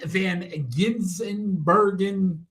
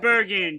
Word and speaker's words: van Gisbergen: The road course legend, Shane Van Ginsenbergen. What's that? Gisbergen. Come on, you gotta at least pronounce his name what right.